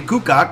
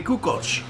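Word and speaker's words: Kukoč: it's just like uh like Tony kach was he wasn't Tony kukak he was Tony kuko although although he wasn't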